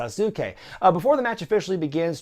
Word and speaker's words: Sasuke: legal review as well I've always heard the Great's asuke pronounced with three syllables even by guys who ought to know so I'm gonna take their word for it and say it's the great suit Kay before the match